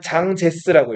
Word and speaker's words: 장제스: 한글로는 장개석이라고 하고 이제 중국어로 이렇게 마우저동처럼 읽으면 장제스라고 읽어요.